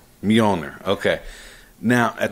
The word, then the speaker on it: Mjolnir: When I read it, it's pronounced Mjolnir. Mjolnir.